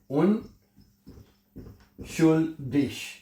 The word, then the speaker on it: unschuldig: The skin east ये बच्चा जो है उनिक हैं या उन्डिश हैं उन शडिश उन्डिक और उन्डिश जो जी है यानी ग जिसको हम जर्मन जुबान में इसको ग और श इन दोनों की जो आवाज में प्रोनाउंस कर सकते हैं।